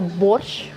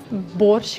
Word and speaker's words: borsch: the play on words the German brand Porsche in simple Russian sounds like Porsche okay so Bosch the soup and Porsche the car they sound pretty much the same don't they uh